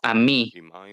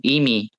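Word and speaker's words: עמי: No pronuncies, tú eres mi pueblo, a mí, con pataj en la ain, sino tú estás conmigo, imi, con un hik en la ain, lo que significa asociarse conmigo.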